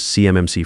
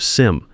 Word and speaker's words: CMMC: I NOTICE HE MISPRONOUNCES CMMC FRAMEWORK. HE SAYS IT "C-M-M-C," SPELLING IT OUT LETTER BY LETTER LIKE HE'S READING FROM CARDS INSTEAD OF "SIMC" LIKE ANYONE WHO'S ACTUALLY WORKED WITH FEDERAL COMPLIANCE WOULD SAY.